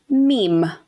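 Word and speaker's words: Mîm: And I might call him Mim because it is literally spelled M-I-M. But apparently it's supposed to be pronounced meme. But I just want to throw it out there. Could be Mim too.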